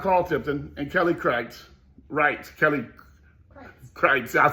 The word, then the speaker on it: Kreitz: But one of the main reasons I got behind Carl Tipton and Kelly Kreitz, Kreitz, I said it right, is because when I